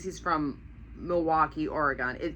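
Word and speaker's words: Milwaukie: But it's pronounced exactly the same way.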